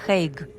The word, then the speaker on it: The Hague: Поэтому, если вам придётся употреблять это название, то произносите по-английски хейг или по-голландски денах.